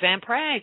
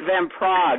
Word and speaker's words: Van Praagh: it's from the Midwest it's van Prague like the capital Czechoslovakia well remember if you